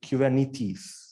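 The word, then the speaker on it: κυβερνήτης: if you will so if you pronounce this in Greek it would be kubernetes why does it have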